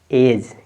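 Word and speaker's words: edge: हो जाएगा D silent देखिए लिखा है ई ई डी जी ई तो आपका यहां पे डी साइलेंट हो गया इसका उच्चारण नहीं करेंगे ठीक है ना आप पढ़ेंगे ई और जी ई को पढ़ेंगे डी साइलेंट एज क्या हो जाएगा एज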